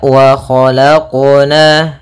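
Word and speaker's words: وَخَلَقْنَا: Harusnya dalam pelafalan qalqalahnya tidak ada tambahan hamzah ataupun saktah. Ya, kan tapi dia langsung saja mengalir.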